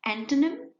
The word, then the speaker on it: antonym: Antonym, again, you will pronounce it as antonym and not antonym.